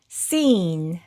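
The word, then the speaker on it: scene: 보시는 것처럼 C 다음에 E가 왔기 때문에 여기서 C는 무음으로 발음해서 발음하시면 되고요. 그리고 여기에이는 e로 발음되었습니다. 그리고 모음 뒤에 오는 애는 받침 소리로 들어가니까 이렇게 적어 주고요. 그리고 여기 끝에 오는이는 묵음으로 소리가 나지 않습니다. 그래서이 단어는 seen 이렇게 읽으시면 되고요.이 이 sin의 뜻은 장면이란 뜻인데요.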